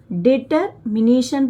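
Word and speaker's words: determination: साथ आगे बढ़ो वी ग्रेटर बड़ी बड़े डिटरमिनेशन डिटरमिनेशन पढ़ा जाएगा। जब भी बड़ी स्पेलिंग मिले इसको तोड़ के पढ़ना है।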